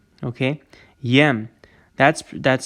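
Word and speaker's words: եմ: it's the conjugated form of allah okay is pronounced yem okay yem that's that's spelled with a yetch and amma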